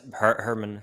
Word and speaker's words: Hermann: very excited to welcome uh is it herman how now am i saying it right hereman hey yeah yeah that's herman hellman herman yeah okay hellman how about like the german pronunciation a german accent german's a bit rusty